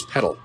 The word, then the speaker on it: Petal: 2 free throws for Donoval Avila, senior out of Petal, Mississippi. Or Petal. I don't know how they pronounce that in Mississippi. Petal? It is Petal. I went all French on it, I guess there.